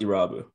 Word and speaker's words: Erabu: It's pronounced Erabu. Erabu?